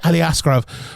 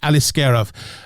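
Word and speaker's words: Aliskerov: scov Alis scov I I always say Ali askarov for some reason but it's Alis scov um and it's him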